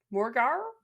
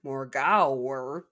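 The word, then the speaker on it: Morgawr: Is it a Morgar? Morar. Spelled like Morar with an extra W in there. Morau.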